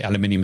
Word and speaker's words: aluminium: steel and iron cement aluminium by the way aluminium is the correct pronunciation production i was going